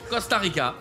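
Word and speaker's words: Costa Rica: cas c'est un C c'est comme ça se prononce costarica alors là là on est au niveau là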